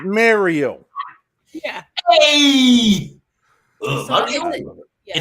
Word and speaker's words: Mario: Italians from Brooklyn, dictate to us how to pronounce my friend's name. The fuck out of here! It's Mario. yeah. Hey, So Mario.